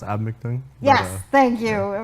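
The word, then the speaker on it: Eabametoong: Well, it's pronounced Abmictung.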